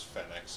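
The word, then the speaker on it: Phenex: don't care also technically it's fenex yes it is fenex after the demon from the RS goisha but yes it's Phoenix too Phoenix it's designed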